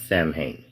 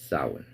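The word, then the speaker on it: Samhain: It's not Sam Hayne. It's sin. I don't even know why they pronounce it sin, but let's just go with it. It's just sin. Okay, not Sam Hane.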